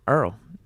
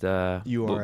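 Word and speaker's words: Errl: Okay, he actually says he pronounces his name Earl, E-R-R-L. It's not just URL.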